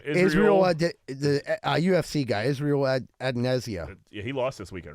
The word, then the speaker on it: Israel Adesanya: Israel, the UFC guy, Israel Adesanya.